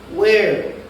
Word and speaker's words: where: Where? Where? La H es muda. Por eso no se dice where, se dice where.